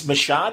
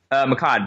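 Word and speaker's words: Mehcad: So it's Mashad. Is that how you say it? Give me his full name. Makkad Brooks.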